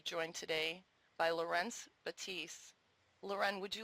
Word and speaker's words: Leuren: same name we do mine is the French pronunciation Lauren and his is the